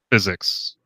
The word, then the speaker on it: Phyxicx: anyway how do you how do you say your name physics physics yeah just physics okay physics I saw the X like yeah I know